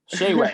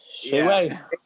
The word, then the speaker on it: Shaiway: There's like I think you lost a syllable on him, Andrew. Yeah, it's Shaiwayvlogs. Shayway, see? Shayway.